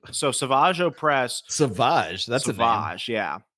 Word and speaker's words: Savage: savager press Savage that's Savage yeah savager press is this like a Renzo mispronunciation or is that how you're supposed to it's Savage it's Savage Savage's brother